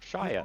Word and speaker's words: Shia: He goes and draw back, and just as he's about to punch Saya, his Shia. arms, Shia. Think of LaBouffe.